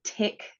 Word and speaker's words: TYK: a jack one and here Jack is spelled j a k and a tick to tyk uh inhibitor so those two